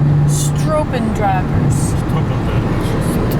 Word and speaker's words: Stropendragers: Stropendragers. Stropendragers. That's right. Double O is pronounced O.